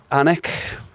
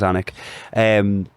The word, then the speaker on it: Alnwick: Anik. Spell it. ALNWICK. You might pass a train stop called Almouth. Yeah. On the way to Newcastle, sometimes it's that train stop as Anik.